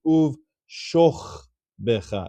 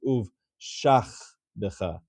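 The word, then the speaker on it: וּבְשָׁכְבְּךָ: Therefore, this is going to be Sheva Nach, and it's actually pronounced as uv shoch becha. It's not pronounced uv shach becha, because this is not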